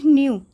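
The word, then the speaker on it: knew: बोल सकते हैं एंड न्यू तो यहां पे के साइलेंट होता है तो यहां पे हो गया इसे क्या पढ़ेंगे न्यू अलू सॉरी अली बाबा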